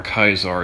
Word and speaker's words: Caesar: presidents and all that Caesar's Legion or kaisar as they pronounce it which is exactly what